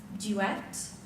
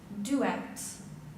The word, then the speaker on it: duet: your word is duet this word has two correct pronunciations duet duet duet t-u-e-t correct contestant 46